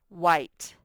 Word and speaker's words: white: to study that one white you can't hear the e remember they're silent they just make these